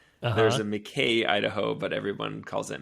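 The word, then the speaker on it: Mackay: There's a McKay, Idaho, but everyone calls it Mackie.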